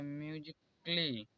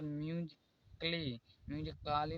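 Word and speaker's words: musically: number A A silent यदि ए के बाद डबल एल वाई आए तो ए साइलेंट होता है जैसे देखिए म्यूजिकली डबल एल वाई के बाद ए आया है इसलिए यहां पर ए साइलेंट है यहां पर म्यू काली नहीं पढ़ा जाता है यहां पर फिजिकली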